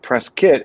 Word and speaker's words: Prescott: city called prescott and a local newscaster decades ago pronounced it press kit it became so popular and funny local still call it that i've been to prescott